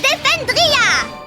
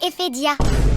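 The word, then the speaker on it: Ephedia: Et c'est très mal parti vu qu'elle sait même pas prononcer le nom de son royaume. Iis princesse Deependria, c'est Ehia.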